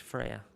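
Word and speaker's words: Freja: is an apple okay so f-r-e-j-a that's correct freya this is the pronunciation uh last name would be hasselblad i'm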